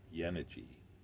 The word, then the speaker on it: Yenice: Yenice is pronounced Yenici in Turkish, and Algonya seed from which it is grown is of Xanthi origin, that first Yenici of legend.